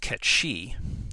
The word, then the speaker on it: Cait Sith: Cait Sith, or officially pronounced Cait Shi, the animatronic Mogul and